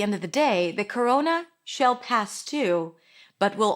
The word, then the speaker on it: corona: We start with a c sound, then it's awah c row. O is in go coro and then n corona.